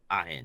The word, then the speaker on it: Ahin: Ahin, yeah.